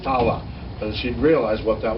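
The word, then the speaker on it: תעלה: How do you pronounce that? Ta'ala.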